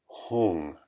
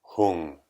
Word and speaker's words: Hung: to recite the sound whom you could spell it h 0 ng whom so repeat after me